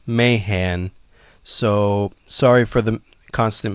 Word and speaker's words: Mahan: Editor's notes, halfway through recording, I realized Mahan was actually pronounced Mayhan.